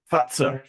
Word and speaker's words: Fazer: you say, is it, it's not Pfizer as in the Moderna type thing? It's Fazer. Fazer. Correct.